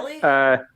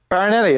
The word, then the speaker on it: Farinelli: Farinelli. Farinelli.